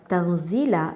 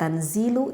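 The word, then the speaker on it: تنزيل: Maka kalau misalkan kita membaca lafaz tanzila bin nasbi, misalkan dinasabkan. Jadi kalau dinasabkan membacanya tanzila. Jadi lamnya itu kita dinasabkan sehingga terdengarnya fathah, tanzila, seperti itu. Tidak tanzilu, tidak tanzili, tetapi tanzila dinasabkan.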